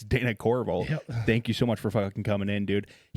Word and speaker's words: Corriveau: And I forgot to say your name, but it's Dana Corval.